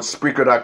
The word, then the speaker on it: Spreaker: at the podcast on spreaker com that's SPR we spell it because people don't know whether it's speaker or spreaker so always spell it it's SP r EI ke r spreaker com-mn so once again share